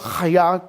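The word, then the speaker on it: היה: La primera es hayaá, que es simplemente o hayá se pronunciaría así, eh pero es simplemente el verbo para ser.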